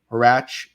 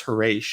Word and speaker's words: Harash: And then there's a character in Revenge and Grave called Horache, and I called him, what do I call him? Harach, and she's like, "That's Harash," and I'm like, "That's a good point, actually."